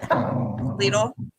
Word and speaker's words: Lidl: I would like to say that is how they pronounce it in the grocery store on the commercial. What? Lidl.